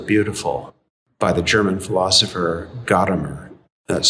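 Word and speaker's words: Gadamer: relevance of the beautiful by the german philosopher gottamer that's spelled g-a-d-a-m-e-r it's not easy reading just as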